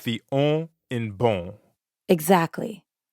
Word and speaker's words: bon: Like the on in bon. Exactly. Bon in bonjour is spelled B-O-N. But you don't pronounce that O-N the way you would in English. In fact, the N isn't really pronounced at all.